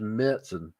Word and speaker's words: Märzen: Apparently it is pronounced Märzen. I don't like saying the word Märzen. Just like Marzen. Yeah. Love a Marzen.